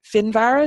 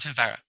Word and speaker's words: Finvara: So that would be, and Finvar is how you pronounce it, Yeah, we call him Finvara.